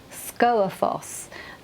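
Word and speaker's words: Skógafoss: think you pronounce it score Foss you think you're going to pronounce the G but you don't and it's one of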